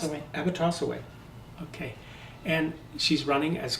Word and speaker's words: Abotossaway: Did I pronounce it? Abotossaway.